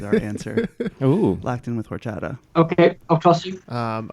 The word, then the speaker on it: horchata: answer oh Latin with horchata okay I'll TR you um I I'm sure what you wrote is spelled correct but I believe the pronunciation drops the H we said orchata yes orchata is correct orchata less